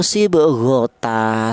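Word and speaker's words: صبغة: Ini cara bacanya itu sibghota seperti itu.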